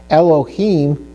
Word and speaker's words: Elohim: look at the word Elohim, okay? So Elohim, we see that the Sharik is under the Hey. So Elohi, he. It almost makes kind of an I sound, but it's an E sound.